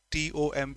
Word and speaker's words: tomb: This is pronounced tomb. T O MB is not tomb. It's pronounced tomb.